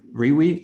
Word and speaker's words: Riwi: So it's spelled Riwi, and the way I called it Riwi is because I wanted to play on the word wire. So it's kind of like Dino and Node and the way they are related.